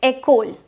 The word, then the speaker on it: école: The pronunciation is école, and école means school.